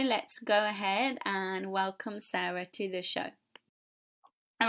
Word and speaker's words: Sara: Is it Sara or Sarah? Because it's Sara, right? Yeah, it's Sara.